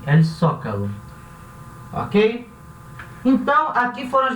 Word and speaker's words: Zócalo: El Zócalo vai se pronunciar um som de S. El Zócalo.